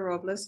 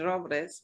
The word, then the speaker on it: Robles: my name is robles it's actually robres but most people can't pronounce it that way but um i am